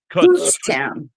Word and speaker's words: Kutztown: was trying to say it right people Coots Kutztown Kut TZ Kutztown Pennsylvania I'll be there signing